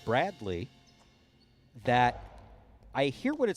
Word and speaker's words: Bradley: was watching the tournament i do say braglee with a g but i don't intentionally do it it's there's there's something in there's something in my pronunciation of bradley that i hear what